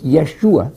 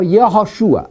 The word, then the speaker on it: Yeshua: a British slang Jesus his Greek name is Yi soos we used the modern Greek enunciation Jesus it's very close to the Greek the modern Greek pronunciation his college is yeezus yeezus for the Y Jesus and it's Yeshua in Hebrew or yahushua either one